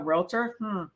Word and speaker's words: Realtor: That's what it usually is, the realtor. And remember that the word realtor is 2 syllables, real and tor. Realtor, not realtor.